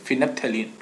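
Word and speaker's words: phenolphthalein: ठीक है, इसको प्रोनाउंसिएशन किया जाता है ऐसे, फिनप्थेलिन।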